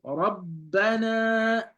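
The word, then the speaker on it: رَبَّنَا: So that's why shadda means doubling. It means the letter is doubled, right? Doubling, right? The letter is doubled. So when you pronounce this here, you will say Rabbana.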